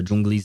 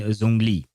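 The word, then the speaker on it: Zhongli: uh Jungli's name and it's not exactly a sound as I as I do it. I just do it like that because it's easier for me to pronounce it that way. Uh but at the very least it's closer than just saying zongli right.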